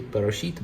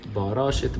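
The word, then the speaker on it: בראשית: You say Barashit bara Elohim et hashamayim ve'et haaretz. In ancient Hebrew, we say Barashit bara Elohim et hashamayim ve'et haaretz.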